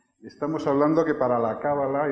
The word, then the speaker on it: Cábala: en el lenguaje santo, el acento va en la última A, se pronuncia Cábala.